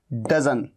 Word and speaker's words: doesn't: डज और नॉट का contraction डज, डज तो ये होता है और ये कॉन्ट्रैक्शन है डजंट, लेकिन डजंट के बजाय आप क्या बोलिए, आप बोलिए डजन।